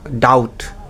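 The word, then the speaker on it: doubt: এছাড়া সাটল এবং ডাউট এই দুইটা শব্দেও আমাদের উচ্চারণে সতর্ক হওয়া উচিত। এই দুইটা শব্দেও বি উচ্চারণ হবে না, বি সাইলেন্ট থাকবে।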